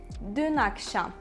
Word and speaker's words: Dün akşam: We need to connect them because dün ends with a consonant and akşam starts with a vowel. And we need to connect them and pronounce it like this.